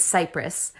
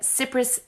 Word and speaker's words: Cipris: So my last name is Cipris. I get Cipris, Kipris, Chipria, Capri. Oh, and my favorite one is Crispy.